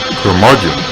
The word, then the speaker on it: Curmudgeon: Curmudgeon rhymes with bludgeon.